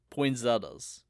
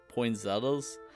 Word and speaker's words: poinsettia: it up on Wikipedia both pronunciations are accepted it's Christmas time and in this episode we're talking about poin Zetta or poinas well no